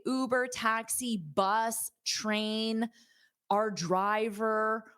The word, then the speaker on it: Uber: and you can replace Uber with whatever you want. So, first of all, repeat that ooh, Uber. So, you have that long ooh. It's not you, it's not the letter U, it's ooh.